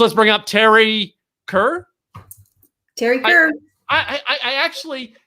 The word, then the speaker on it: Teri Kerr: Teri Kerr.